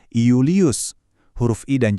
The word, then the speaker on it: Iulius: Berarti nama-nama Romawi yang terkenal kayak Julius itu awalnya ditulis pakai huruf I dan dibacanya beneran tegas Iulius.